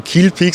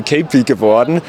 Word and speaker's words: K-Peak: then peak so that That's why it's not in the end the Kel Peak but the kepak because otherwise it's a